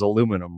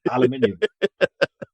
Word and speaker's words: aluminium: pronouncing the correct terminology, aluminium. I always thought when Pete would say it, I always thought he just like added an extra vowel in there and wasn't aware of it.